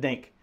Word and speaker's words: diNGK: think in the dictionary this is going to be the Phonics spelling of it so this guy actually spelled it dink so this is the dink paddle and uh this